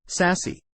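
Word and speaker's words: SASE: access service edge or SAS and pronounced sassy is a network architecture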